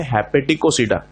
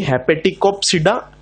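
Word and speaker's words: Hepaticopsida: यहां पर पी का यूज नहीं करना है क्योंकि पी साइलेंट है। हेपेटिकोसीडा, एंथ्रोसीडा और ब्रायोसीडा, ना कि हेपेटिकोप्सीडा, एंथ्रोप्सीडा और ब्रायोप्सीडा।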